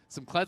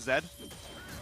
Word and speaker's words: Kled: But anyway, we got Kled versus Olaf here. I've been informed. Okay. By our boomer producer, Arthur, the mayor. Rick Fox was calling the champion Zed. Just so outright. He was mispronouncing the name.